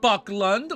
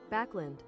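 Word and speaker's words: Backlund: pronunciations wait no no it's not Buckland where hold up hold up I I got it open it's right here ready backland backland we agree to just I'm instead of backland or Buckland it's lend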